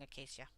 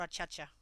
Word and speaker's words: acacia: At the moment I'm drawing acacia, or achacha, depending on how you say it.